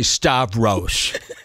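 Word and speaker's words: Stavros: right yeah yeah just say St just say star rose Shane's a bully to Joe just say star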